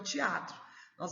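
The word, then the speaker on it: θέατρον: E vem da palavra aí teatron. Eu penso que a pronúncia deve ser bem forte, né? Teatron, porque a gente vê aí que tem um acentinho na primeira.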